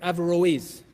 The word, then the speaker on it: Averroes: that is referred to in the Latin as Averroes if I'm pronouncing it correctly Europe Averroes I stand corrected Averell 'yes thank you he is the one who among